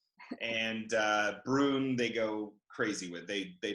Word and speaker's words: Bruun: It's basically, exactly how it's spelled. Exactly. I'd like to add to it. Yeah, it's like it's almost like two O's even. It's like prune, broom. You know, like one of those ooh sounds.